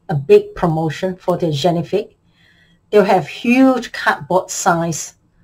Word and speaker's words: Génifique: talk about the Lancome genifique I think that's how they pronounce it it's French it's Lancome genifique it's Lancome signature skincare